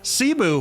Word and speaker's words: Cebu: That's how you pronounce it? Cebu.